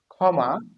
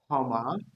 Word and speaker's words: ক্ষমা: দেখো, ক্ষমা, এটার উচ্চারণ হবে খ, ক্ষমা।